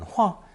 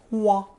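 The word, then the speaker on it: 化: To explain, we need to remember that Hua pronounced fourth tone hua and sometimes first tone hua is a pictogram of two persons, one upright and one reversed.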